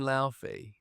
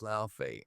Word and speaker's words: Laufey: Wait, when you say L, do you mean Liy? Cuz I read that as Laie. Oh my god. Apparent it's pronounced different cuz it's like Icelandic.